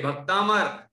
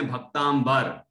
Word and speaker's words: भक्तामर: ओम भक्तामर का नाम यह भक्तामर पहले तो उच्चारण ठीक करें कुछ लोग बोलते भक्तांबर बार नहीं है अंबर अंबर धोइए भक्तांबर नहीं है भक्त प्लंबर हो जाएगा पर अंबर का मतलब